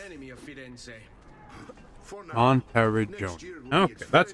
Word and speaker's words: Monteriggioni: For now, Monteriggioni. Okay, that's how you're supposed to pronounce that.